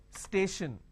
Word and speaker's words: station: an example for example station now when i have station i have stay shin the t i o n basically i can say s h i o n station right so